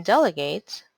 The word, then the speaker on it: delegate: delegate del e gate there's a stressed syllable in delegate on the first three letters del so how do we